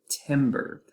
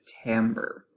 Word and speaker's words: timbre: the word timbre is spelled almost like we should pronounce it timber but we're actually going to be pronouncing it timbre and another way of